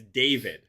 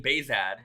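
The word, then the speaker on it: Behzad: different story um also some people think it's david for some reason when i when when i say my name baezad some people hear david so i have been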